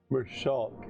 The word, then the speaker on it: Mershulk: I mean, Mershulk, like chalk.